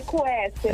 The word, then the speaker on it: Quester: A pronúncia é essa mesmo? É Quester? É Quester, está corretíssimo.